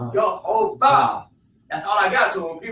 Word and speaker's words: Jehovah: The vowels tell me how to pronounce it. The yo, yuh. Yeah. The O sound under the hey is ho. Yo, ho. Then the ba. That's how I know how to pronounce it. Yo, ho, ba.